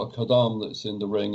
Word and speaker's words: Khaddam: Well, Khaddam, Kha, you don't have Kha in English, so we usually write it KH.